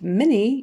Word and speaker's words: many: uh uh much and mini even though it's spelled m a n y we typically say it more like an m i n e e so many many